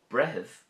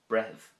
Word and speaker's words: Breitheamh: Breithimh would be judge. Breithimh.